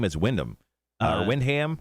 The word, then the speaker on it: Wyndham: Or Windham. How do you say it? It's Wyndham.